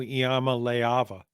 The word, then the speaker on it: Iamaleava: Yes, and I've even practiced saying Nico Iamaleava. That's as close as you've ever come, I think. Yeah, and I notice you're not pronouncing that A.